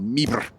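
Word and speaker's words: MIBR: bracket losing out to Mi ibr or meber as I believe the locals say it no one saw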